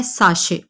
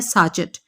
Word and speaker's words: sachet: اکثر لوگ اس لفظ کو ساشے نہیں بولتے بلکہ بولتے ہیں ساچٹ، کیونکہ اس کے سپیلنگ ہے SACHET. ساچٹ غلط لفظ ہے، ساچٹ نہیں ہوتا بلکہ اصل میں لفظ ہے ساشے.